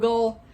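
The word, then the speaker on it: geaux: to be a very good game no matter what and let's hope the bengals win go bangles as in g-e-a-u-x bangles okay go joe burrow spell it the cajun way right so with that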